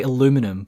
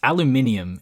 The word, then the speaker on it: aluminium: suppose yeah also it americans say aluminum but you know it's aluminium and you'd think walt being the pedantic man that he is would say it the right way it's not the right or wrong way though that's just what they say though yeah but there's an eye in there no no no it's spelt differently in america it's aluminum it doesn't have the eye in there it's just the way